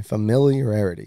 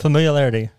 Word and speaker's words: familiarity: You're just saying it wrong. Well, now that you read it, I said it right. There you go. Look. Familiarity. Familiarity. What? There you go. Familiarity. Ooh. It's familiarity. I don't feel like that's look, fa. Mill. No. Itty. Fa. Mill. Year.